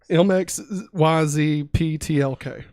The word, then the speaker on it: Mxyzptlk: Mxyzptlk.